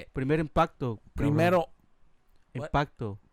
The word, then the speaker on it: Primer impacto: Primer impacto. Primero, what? Impacto. primero impacto.